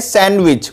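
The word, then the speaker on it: sandwich: इसे कहते हैं सैंडविच। बहुत से लोग इसको बोलते हैं सैंडविच जो कि गलत होता है, इसमें डी साइलेंट रहता है।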